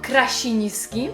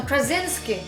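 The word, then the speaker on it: Krasinski: i nazywa się Krasiński Myślicie, że ktokolwiek w Ameryce mówi na niego "Krasiński"? Nie Mówią Jon Krazinski a ten Arnold Schwarzenegger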